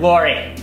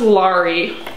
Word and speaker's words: Lori: up oh my god lori can we watch mac and me again i love the part where they dance at mcdonald's yes yay it's pronounced laurie i just wish for